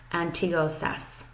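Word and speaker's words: αντίο σας: And you would simply say antiosas. Okay, antiosas is how you say goodbye in Greece.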